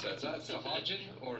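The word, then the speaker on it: Sahuagin: Keith how do you pronounce that is that sahin or sahagan swagen is how I pronounce it yeah okay okay so um so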